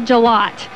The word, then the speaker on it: Jalot: So my last name is Jalot. And so it's just like G and then Lot.